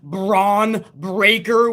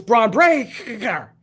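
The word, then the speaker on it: Bron Breakker: Lots of next generation debuts last night as well, including Rick Steiner's son, Braun Breaker, with 2 Ks, I believe.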